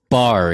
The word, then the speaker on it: barre: that's great so it's it's bar it's not bar a completely butchered that right that's okay i i hear it a lot so if you're a non-dancer it probably looks like bahrain so bar dance and